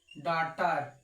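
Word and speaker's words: daughter: इसको क्या पढ़ेंगे autumn D ए यू जी एच टीई आर डॉटर डॉटर डॉटर में जी एस साइलेंट है जीएच कहीं भी आपको साथ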